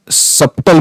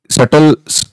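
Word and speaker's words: subtle: असेल तर त्याला आपण सप्टल म्हणत असतो तर सटल पण याला उच्चार करतात बी सायलेंट करतात तर त्याचा अर्थ होतो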